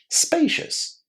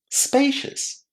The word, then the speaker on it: spacious: How is the O U S pronounced? It sounds almost exactly like the letter S in the English alphabet. It's just slightly shorter. Spacious.